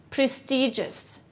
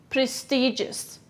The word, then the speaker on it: prestigious: prestigious repeat after me prestigious okay how do you spell it yes it's p r e s t i g o u s where is the stress prestigious it's on the first syllable what part of speech